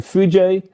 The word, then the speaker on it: foojay: pronounce it and so we've added a and y so it's clear that you say fuji and now that we